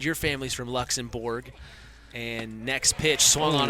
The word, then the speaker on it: Luxembourg: Luxembourg, I think, but it's spelled like it's spelled in English like it would be Borg.